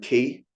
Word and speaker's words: Ki: So there's Rei, R-E-I, pronounced Rei, and then Ki, pronounced Ki.